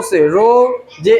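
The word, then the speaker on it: Saroja: एस ए स आर ओ से रो जे ए से जा। सरोजा।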